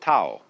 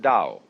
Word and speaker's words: Tao: called the da Jing if there were an apostrophe after the T you would pronounce it Tao but if there is no apostrophe you pronounce it Dao because our Scholars made